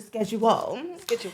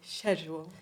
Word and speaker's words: schedule: getting into today well on the scheduel I I came with notes guys I came with or As Americans say schedule oh God no offense